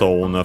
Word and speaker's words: を: uh noun which is Pokemon of course.